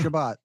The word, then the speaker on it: Shabbat: Shabbat. Thank you. And I mispronounced it.